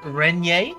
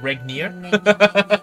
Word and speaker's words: Regnier: the secret missions for lizette renye that's how you say it not regnier like uh like i said at the first time lizette regnae and uh